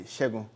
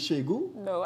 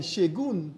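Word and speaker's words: Segun: Shegu, you know his first name was Shegu? No, I'm learning that today. How do you spell Shegu? S-H... S-E-G-U-N. S-H-E... Using English alphabet. You pronounce the N, Shegun.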